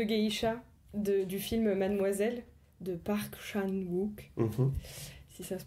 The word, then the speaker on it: Park Chan-wook: En fait, un objet qui m'a particulièrement marqué, c'est les boules de geisha du film Mademoiselle de Park Chan-wook, si ça se prononce comme ça.